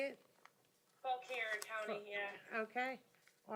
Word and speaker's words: Fauquier: It is in Fauquier, Virginia. Is that how you say it? Fauquier County, yeah.